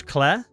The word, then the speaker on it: Clair: It's pronounced how the British pronounce Clair, as in Clair Obscur.